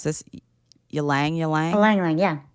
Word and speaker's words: Ylang: Okay, I don't know how to pronounce this. Ylang? Ylang, yeah. Ylang.